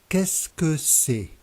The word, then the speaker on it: Qu'est-ce que c'est: Qu'est-ce que c'est? Qu'est-ce que c'est? The letters Q, U combined are always pronounced K.